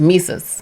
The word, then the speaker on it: Mesus: is a nice hit pronounced like jesus with mises mises thank you oh